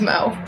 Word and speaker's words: Mo: It rhymes with go. Whoa. My name's Mo.